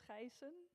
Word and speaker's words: Gijssen: It's Gijssen. It's Dutch, but the name is actually Austrian.